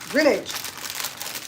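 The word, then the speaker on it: Grinage: chats and I said we pronounce the name grin like smile and age like oh grin age I said I don't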